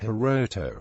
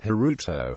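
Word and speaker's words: 大翔: For example, the popular boy's name is traditionally pronounced Hiroto, but in recent years alternative pronunciations Hiruto, Yamato, Taiga, Sora, Tato, Daito, and Misato have all entered use.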